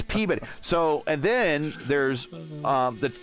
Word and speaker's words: Peabody: in in Massachusetts and it's spelled Peabody but when you talk to them it's peab bitty now how they get bitty out of body I have no clue but it's PAB bitty so and then there's